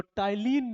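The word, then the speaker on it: ptyalin: पाया जाता है लीन इसका साइलेंट है टाइन मत पढ़िए इसको इसको टाइन पढ़ते तो टाइलिन नाम का उसम य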